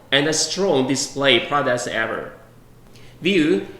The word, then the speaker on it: VUE: strong display products ever view is named from french with the same pronunciation and the meaning of